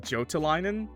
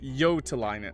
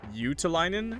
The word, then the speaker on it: Jotelainen: Googled his name, so I kept saying Jotelainen, but his name is Yotelainen. I believe I looked it up, and it's pronounced Yotelainen, and it meant something else. And there's another way to say it too. You can say like Utelainen, but I think they said that's like just the U and no O, so it's Yotelainen, I guess.